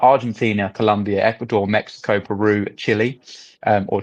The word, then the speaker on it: Chile: The countries, if you're really interested, are Argentina, Colombia, Ecuador, Mexico, Peru, Chile, um, or Chile, depending on where on your pronunciation for that, with merchants receiving payments in local currency.